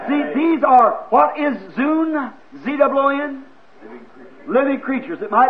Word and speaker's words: zoon: See, these are, what is zoon, Z-O-O-N? Living creatures. Living creatures. It might be pronounced zon, Z-O-O-N. How would you pronounce that? Zoon? Zoon, I'd say.